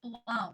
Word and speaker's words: Blohm: Blohm? No, you actually said it right. It's Blohm. So your first guess was right.